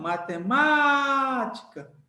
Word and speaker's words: matemática: monte de sílabas então matemática usando a técnica do grito você vê que o Má é o forte ou seja Então você